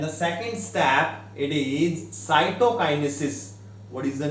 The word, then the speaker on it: cytokinesis: What is the pronunciation? Karyokinesis. And the second step, it is cytokinesis.